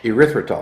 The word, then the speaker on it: erythritol: safer sugar alcohol, and I always have trouble pronouncing it. What is it? Erythritol.